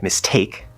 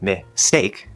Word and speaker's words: mistake: So just keep that in mind, because you don't want to say mistake. The take part is the stressed syllable. So you would think that it should be strong. But that S in miss is sort of connecting over. That's what S does. It connects with a lot of consonants, even inside words. And so it's more like mistake. So now it sounds like the word steak.